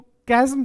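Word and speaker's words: chasm: Option D, इसको कैज्म बोलते हैं, प्रोनाउंसिएशन चेक करें। कैज्म का मतलब क्या होता है?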